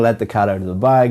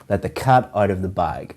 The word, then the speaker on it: let the cat out of the bag: The pronunciation of this is to stress or emphasize cat and bag. Let the cat out of the bag.